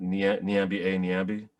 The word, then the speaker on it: Nyambi: So Nyambi. So they would call me Like it was just like they would do they would do things like that. My name rhymes with Bambi, so they'd call me Bambi.